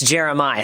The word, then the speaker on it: Jeremih: it jerem is it Jeremih yes it's jeremiah stuff like that okay yeah because he doesn't have a aah in there so it's jeremiah yeah it's jerem I